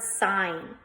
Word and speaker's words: sign: Some of us might mix it up with the word sing. Okay, but it's not the word sing. Sing is S-I-N-G. This is sign. We have a silent G there.